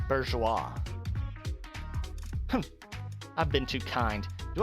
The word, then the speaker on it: bourgeois: Okay, apparently it's pronounced bourgeois.